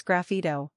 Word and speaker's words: sgraffito: video we cover the following topics scfo pronounced as grafo is an Italian term derived from the word